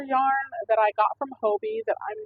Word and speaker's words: Hobbii: I'm not sure if that's Hobby or Hobbii, however you pronounce it. I pronounce it Hobbii.